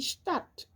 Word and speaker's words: Stadt: Par exemple, lorsque un S est devant un T ou devant un P, il se prononce comme un Ch, comme par exemple ici die Stadt, die Sprache.